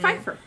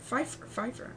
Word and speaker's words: Pfeiffer: Pfeiffer. Pfeiffer. Oh, you don't pronounce the P. I don't think so.